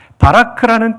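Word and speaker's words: בָּרַךְ: 히브리어로 송축하다는 바라크입니다.이 동사를 한번 따라해 주십시오. 바라크. 바라크. 여러분 발음이 거의 신학대학원 수준입니다. 바라크라는 뜻은이 문맥 속에 어떤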